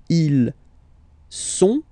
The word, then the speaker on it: ils sont: Ils sont, final T not pronounced, ils sont, elles sont, okay?